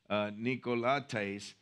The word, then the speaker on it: Nicolaitans: I have this little thing where you hit the button and it tells you how to say it in their language, Nicolaitans.